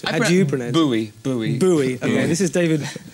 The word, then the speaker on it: Bowie: How do you pronounce it? Bowie.